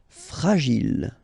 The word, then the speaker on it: fragile: Okay, final E not pronounced. And then when you get this G and I, J. Gilles. Fragile.